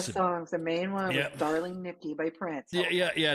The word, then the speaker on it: Darling Nikki: was the other one they even mispronounced it they called it darling Kitty too I was like that's